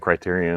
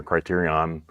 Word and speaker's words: Criterion: steady with that well speaking of Criterion or Criterion both ways are both both both ways are the correct way to pronounce but Criterion if you